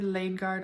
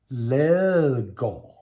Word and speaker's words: Ladegaard: i'm going to be saying the word laneguard all through this video but it's wrong and it should be pronounced like this lego let go in a recent video